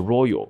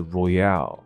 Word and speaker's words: Royale: 所以游戏方面的这个字不念作 royal， royal 这个字是皇家，那它是 Royale， OK， Battle Royale，什么意思呢？